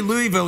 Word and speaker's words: Louisville: You can't say Louisville.